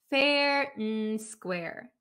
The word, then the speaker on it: fair and square: square fair and square so a lot of the times when we have and um in american english we tend to just say the m sound fair n square fair and square fair